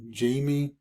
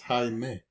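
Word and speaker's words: Jaime: wrong uh you know the fact is my name is not how you pronounce it or how you read it but it's how you pronounce it in Spanish right so a lot of people tend to think my name is Jamie or Hai right but actually my name is Hae right hi but anyways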